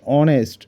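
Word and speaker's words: honest: Khan is অনেস্ট ম্যান এখানে এইচ টা কিন্তু উচ্চারিত হয় না তো যেটা হবে অনেস্ট mister Khan is অ্যান অনেস্ট man this is অ্যান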